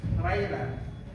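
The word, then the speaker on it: רֵעַ: Ang salitang reya o it is pronounced as ray.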